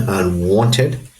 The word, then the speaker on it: unwanted: And for unwanted, the stressed syllable is the second syllable, so the apostrophe would go after the N, unwanted.